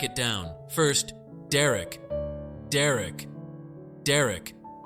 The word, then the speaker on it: Derek: down first Derek Derek Derek sounds like Derek rhyming with Eric easy right now the